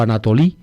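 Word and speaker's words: ἀνατολή: nace de lo alto la palabra griega es anatol exip anatol o anatoli pronuncia los griegos modernos anatolia es la región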